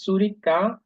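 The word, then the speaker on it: Zürich: জুরিক, এটা উচ্চারণ হলো সুরিকা 410.000 Einwohner, মানে হলো 4,10,000 রেসিডেন্ট।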